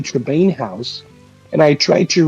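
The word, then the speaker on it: Tremaine: Last time you were here, I pronounced it wrong. I said Tremor, but I think it's Lady Trebain house.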